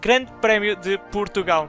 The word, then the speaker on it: Grande Prémio de Portugal: And the name of the race is Grande Prémio de Portugal. So next time one of you is saying the name wrong, you don't have any excuses now because you had this lesson.